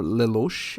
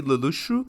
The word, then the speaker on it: Lelouch: main guy Lulu or Leelos. I think it's the name they actually pronounce in the English dub. I will choose to say Lushu because it's the way they say it in Japanese and also because it's